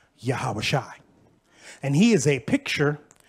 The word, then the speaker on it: Yahawashi: Now, you know, Joshua in ancient Hebrew is pronounced Yahawashi.